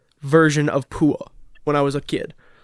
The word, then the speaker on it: Pua: that's Undisputed but I assure you it is pronounced Pua no we can figure it out how pronounced